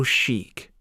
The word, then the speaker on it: chic: It's so chic. Chic is spelled C-H-I-C, and it means elegantly and stylishly fashionable.